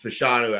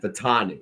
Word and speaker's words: Fashanu: Fashanu, it's Fashanu adding on, for God's sakes. I mean, even fucking John Levitz was able to pronounce that when I gave him the opportunity to. And Fatanu, right?